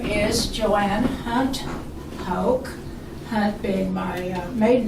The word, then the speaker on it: Hoch: you start yes my name is Joanne Hunt Hulk has been my maiden name and Hulk h-o-c-h